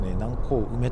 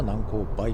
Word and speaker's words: 南高梅: プラムについては、発音をめぐって議論が分かれているようだ。地元の人々は「南高梅」と呼ぶようですが、関東地方などでは「南高梅」と呼ばれる